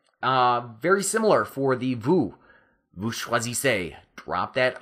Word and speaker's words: choisissez: Now we still want that A sound at the end of choisissez, but you have to do that thing where you drop the R and add the SSEZ.